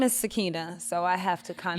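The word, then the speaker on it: Sakinah: butchering the out of the pronunciation how's it spelled s a k i n a h s a k i n Sakina that's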